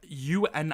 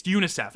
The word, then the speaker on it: UNICEF: Source from uh UNICEF why did I say it like un ni I am I stupid it's UNICEF anyway yes it's a